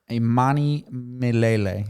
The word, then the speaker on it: Imanimilele: He's the tour director for children's choir Imanimilele.